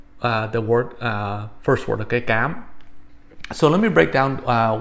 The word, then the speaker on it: Cám: word, first word, okay, Cám. So let me break down what this is. Vietnamese, like French, has what's known as a hard C sound.